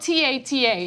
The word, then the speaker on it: Tata: His name is spelled T-A-T-A. It's Tata. It's Tata, right?